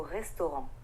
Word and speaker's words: restaurant: The S in the word vais, the R in the word manger, and the T at the end of restaurant are all silent letters. We don't actually pronounce them in French.